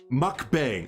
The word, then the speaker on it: mukbang: call them fries or french fries so it's pronounced mukbang oh and it's uh and all it is